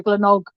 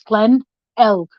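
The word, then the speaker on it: Glenelg: they pronounce things and when they go Glen OG no it's Glenn elk Glenn oh it's the same it's spelled the same as it is backwards so I can't remember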